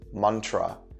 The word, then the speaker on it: mantra: also where the word mantra it's actually two syllables so two parts it's mon and tra that means mind vehicle